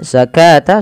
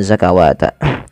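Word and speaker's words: الزكاة: adanya hamzah bertemu alif kemudian zakata sama dengan ini jangan dibaca dengan zakawata Kemudian tumma tawallaitum illa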